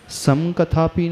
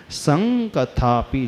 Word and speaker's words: संकथापि: तो त्वत् संकथापि ऐसा पढ़ेंगे इसको। सन नहीं पढ़ेंगे, सम भी नहीं पढ़ेंगे, संकथापि। जैसे गंगा पढ़ते हैं ना,